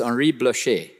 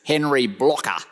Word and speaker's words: Henri Blocher: His name, I was told by a French person yesterday, should be pronounced Henri Blocher. That's his name. Anyway, he was introduced in Australia as Henry Blocker, which was just rather wonderful.